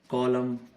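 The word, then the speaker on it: column: कॉलम, ऐसे ही सोलम, तो एन का कोई साउंड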